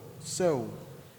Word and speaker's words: sew: S-O-W is pronounced as sow, sow, sow. And S-E-W has the same pronunciation, sow.